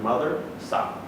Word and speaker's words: madrasa: Then we went to a Jamia madrasa, where the How do you say it? Madrasa. Mothersa? Yeah, mother, like mother, sa. Mothersa. Yeah, like saw, like mother saw.